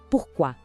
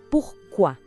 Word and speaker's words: pourquoi: Pourquoi. A pronúncia é pourquoi. Vamos com calma.